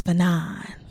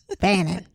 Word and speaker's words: Fanon: But I loved how my boy Frantz Fanon, did I say it right? You did. Okay. You did. Because I was saying Fanon before. Fanon.